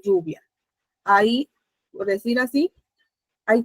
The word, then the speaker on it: lluvia: Coche, si ven también, recae la mayor fuerza de voz en la penúltima sílaba y de igual manera lluvia.